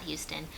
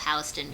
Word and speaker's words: Houston: good system like a south of Houston which pronounced Houston not Houston that's all where New